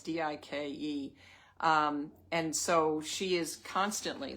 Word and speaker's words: Dike: I've been researching to pronounce her name. Dike, it's Dike.